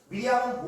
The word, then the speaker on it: 미리암: 그래서 이 마리아라는 이름은 히브리식으로 발음을 하면 미리암이에요. 미리암. 미리암은 모세의 누이였죠.